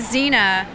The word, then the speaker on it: Xena: both dressed as xena i'm just a zina with a z with an x i is it who decided that an x can be and a z i didn't so xena it's spelled like xanax with an a you know what i